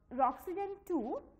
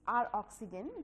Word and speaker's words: Roxygen: Roxygen 2 has eased the process. You can say it R-Oxygen 2 or Roxygen. You can pronounce it in both the ways.